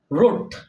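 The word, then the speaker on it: write: আর থাকে আর আর ডবর পর যদি আর থাকে তাহলে ডবটা কি থাকবে সাইলেন্ট থাকবে উচ্চারিত হবে না যেমন আমি লিখতে পারি রোট কি লিখছি রোট ডব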